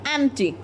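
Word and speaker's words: empty: एम्प्टी, P silent रहेगा, एम्प्टी, ठीक है।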